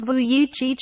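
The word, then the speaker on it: Vujicic: however is exactly how nicholas voyage pronounced vu yi cheech spends every day without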